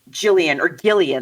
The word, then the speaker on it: Gillian: And so in the play, unlike in the movie, Gillian, they say, right? It's like a hard G.